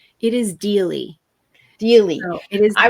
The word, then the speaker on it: Deall: It is really with a D, which becomes Deely. So yes. Deely.